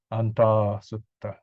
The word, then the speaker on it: Antā Sutta: So this is the long vowel, 2 counts. This is 1 count, right? Antā Sutta.